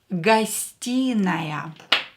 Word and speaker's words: гостиная: The next word is гостиная. A living room. Гостиная. A living room. Гостиная. Here O will be pronounced as A because E is stressed and O is not stressed. So pronounce it as A.